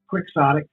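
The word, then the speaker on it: quixotic: How do you pronounce it? It doesn't look like coyote. Quicksotic. So it is quick.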